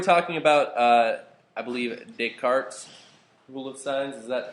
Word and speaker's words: Descartes: once in a while uh and will intentionally mispronounce this guy's name as Descartes like all the time I love it Descartes